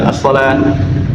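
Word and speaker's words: الصلاة: Jadi kalau kita lihat as-shalawat gitu ya, tapi dibacanya shalah gitu, as-shalah. Tapi penulisannya as-shalawat ya, seperti itu.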